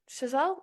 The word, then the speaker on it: Chazelle: um musicals are interdisciplinary movies as says SEL shazel that's how you say it we require lots